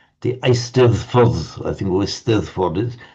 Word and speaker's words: Eisteddfod: Because the Welsh double D is pronounced exactly like our English the sound. The Eisteddfod, I think, or Eisteddfod is.